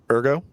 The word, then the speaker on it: Ergo: This is where we're going to get our first introduction to Ergo.